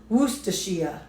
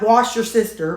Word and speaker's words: Worcestershire: Anyway, she said it's pronounced Worcestershire. Not wash your sister, but Worcestershire.